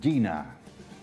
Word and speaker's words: Gina: Cuéntanos un poquito de este producto nuevo, de Gina. Supongo que se pronuncia así, ¿no? Sí, Gina.